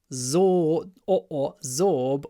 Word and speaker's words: absorb: anyway sponges absorb absorb absorb water uh remember it's a z abor zor or or something like that absorb water absorb uh